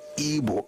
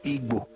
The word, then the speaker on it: Igbo: I said I studied ebo in secondary school it's not ebo is ebo. So we spell it ibo.